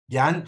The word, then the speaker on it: Jan: Jan, how do you pronounce your name?